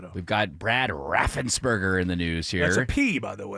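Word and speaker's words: Raffensperger: We've got Brad Raffensberger in the news here. That's a P, by the way. Raffensburgger.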